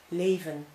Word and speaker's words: leven: If you use it, if you pronounce it as A, as we do, like you say in day, then it's in an open syllable. An example in Dutch, leven, which means life or live in your language.